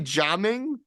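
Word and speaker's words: Jiaming: pronounce that jaming it's oh it's actually jaming it's actually j i a be J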